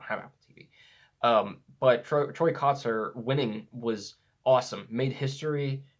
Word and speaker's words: Kotsur: Kotsur, I think it's not Kotsur as I've pronounced it before, but Kotsur, which was awesome.